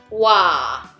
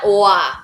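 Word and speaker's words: 와: O plus A. And the pronunciation is wa. It is not wa, okay? So it's wa.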